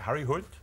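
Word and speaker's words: Harry Hole: His story is about Harry Hood, we got the pronunciation from him yesterday.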